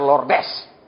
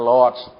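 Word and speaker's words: Lourdes: ke lots lot itu lordes jangan dibaca lordes bacanya Lords bukan Lord Semua turun-turun turun turun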